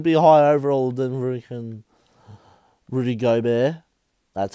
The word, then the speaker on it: Gobert: Jamal Murray should be higher overall than Rudy Gobert.